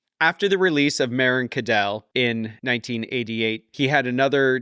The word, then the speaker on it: Cadell: So Meryn, then Cadell, KA-DALL.